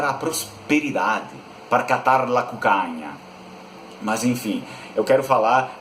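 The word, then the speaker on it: cuccagna: de modo diferente, porque o italiano vai pronunciar cucanha, cucanha.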